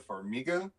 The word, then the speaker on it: Farmiga: Lorraine Warren is played by Vera Farmiga. I'm pretty sure that's Yeah, how you you pronounce her said name.